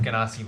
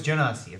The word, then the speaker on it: Genasi: Hello, I play Monolith, the Earth Ganassi rogue. Genasi. No, Gotta remember Ganassi. that. No, it's Genasi, like genie.